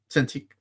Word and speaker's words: Cintiq: Cintiq.